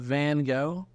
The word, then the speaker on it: van Gogh: Dude, nobody knows, but Van Gogh, the painter, Vincent van Gogh. Uh-huh. That's how you say his name in Dutch, because he's from the Netherlands. Is a G, dude.